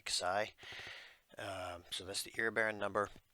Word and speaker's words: Xi: It's pronounced KSI, Xi.